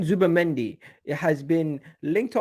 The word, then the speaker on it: Zubimendi: Yes, Martin Let me see how you pronounce his name. Martin. 1 second. Martin Zubimendi. Martin Zubimendi.